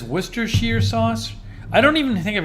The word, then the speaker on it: Worcestershire: have my volume on you're probably hearing this worcestershire sauce worcestershire sauce oh i was right worcestershire sauce is a pungent sauce containing soy sauce and